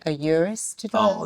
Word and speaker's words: Urus: A Urus to drive? Oh, Urus.